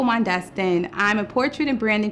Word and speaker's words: Mondestin: in new york i'm mondas thing i'm it i said my name wrong start over hi i'm mondeston i'm a portrait and